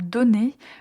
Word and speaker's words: donner: Alors, une astuce concernant le verbe donner. Comme ce verbe contient deux n, quand vous prononcez ce verbe au présent, prononcez bien et clairement la lettre N. Il ne faut pas le prononcer de façon nasale.